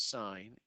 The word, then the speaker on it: sine: the first three letters you don't pronounce it sent its sign is the the opposite